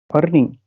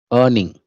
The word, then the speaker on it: earning: Earning. Earning. Yes, sir. So the correct pronunciation is earning. Earning. Okay. Okay. R is little silent here, like earning. Okay.